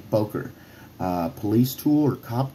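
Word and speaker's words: Böker: wrong for a while i thought it was bocker i came to find out there's some people that corrected me poker uh police tool or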